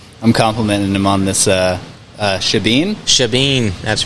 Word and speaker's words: Shebeen: It looks like Shebeen, but I've been told by my marketing team to call it Shebeen because that's the proper way to say it.